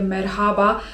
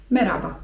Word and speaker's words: merhaba: Ale z moich obserwaji wynika, że takie 'merhaba' to raczej jest gdzieś tam używane, nie wiem... W telewizji, przez prezenterów wiadomości. Czy gdzieś tam wiecie, przez wyższe sfery. A tak na co dzień raczej wymawiamy to w ten spsób, żeby to 'h' było nieme - 'meraba'.